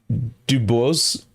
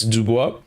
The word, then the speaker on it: Dubois: dubois henry dubois but i wonder how they say it in american or in english american english they probably say henry dubose dubois dubois i don't know but in french it's dubois okay anyways so first